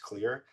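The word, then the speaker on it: Xlear: So X L E A R is how it's spelled, but it's pronounced clear.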